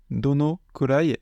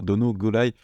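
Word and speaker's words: どのくらい: Et ensuite, on a dono kurai qui peut également se prononcer, se dire dono gurai. Alors, se prononcer, attention, ça peut s'écrire dono gurai et à l'oral, du coup, on peut dire soit l'un ou soit l'autre. Les deux écritures existent pour matcher la prononciation. Donc dono kurai ou dono gurai, ça veut dire la même chose et ça veut dire combien de temps.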